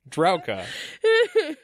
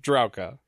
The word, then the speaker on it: Drauka: She wanted me to say Drauka. That's how it's pronounced. Drauka. That's what I'm going with.